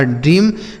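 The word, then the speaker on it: dream: वाला र हो गया इ ए का उच्चारण बड़ी ई की मात्रा एम से म लिखा ड्रीम ड्रीम मतलब होता है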